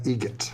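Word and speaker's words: Eget: How do you say the name? Adam Egot. Egot. Spelled different. Like the bird. That's Egret.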